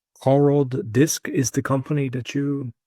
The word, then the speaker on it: Coordisc: It's the beginning of coordination and then the beginning of discovery. So Coordisc, however you pronounce the first couple syllables of coordination, is how you should pronounce that word.